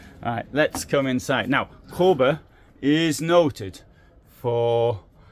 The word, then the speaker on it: Kabe: It's from Kabe. The Kabe is written, I think the A with a thing on it in Swedish is pronounced O.